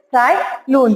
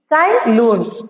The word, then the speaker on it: Tsai Lun: Tsai Lun. Here T is silent children. You should not spell T. Tsai Lun.